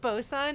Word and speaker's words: boatswain: pirate book, is that bosun actually was originally spelled Botswain, which looks like boatswain, which I think actually means like boat boy, if I remember correctly. But people are lazy and lose sounds and syllables.